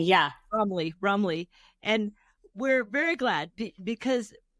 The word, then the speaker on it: Brumley: Am I pronouncing that right? Brumley, yeah. Brumley.